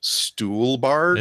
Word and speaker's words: Stuhlbarg: I just want to stop you because I'm looking at his Wikipedia page and it says his last name is pronounced Stuhlbarg.